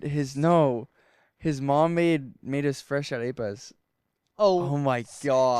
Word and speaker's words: arepa: And his mom made us fresh arepas.